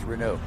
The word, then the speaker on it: Renault: first thing they said it's pronounced renew so you were asking